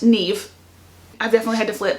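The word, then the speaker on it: Niamh: But there's also some other names, like one of them is N-I-A-M-H, and that is pronounced Neve.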